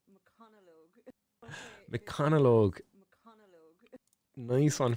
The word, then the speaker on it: McConaughey: Okay, it is pronounced McConaughey.